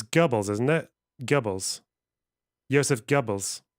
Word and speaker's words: Goebbels: Likening Israel to Nazi Germany in a UN event, he accused the country of lying just like Goebbels, referring to Joseph Goebbels as chief propagandist of the Nazi Party.